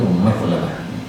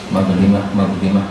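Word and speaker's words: مظلمة: Mazlimah, mazlamah, ada 2. Mazlimah memang ada 2 harakat ya. Bil fathi, dengan fathah, wa kasril lam, dan lam dikasrah, mazlimah, ismun lima ukhriba dzulm.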